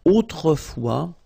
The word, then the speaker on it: autrefois: And then we've got this autrefois, so it could be translated like in olden days or in olden times, okay? Autrefois, so A-U, autrefois, final S not pronounced, okay?